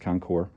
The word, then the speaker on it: Concours: These Kawasaki Concours, has an S, but it's pronounced Concours, have an issue with the junction box, which is right down here.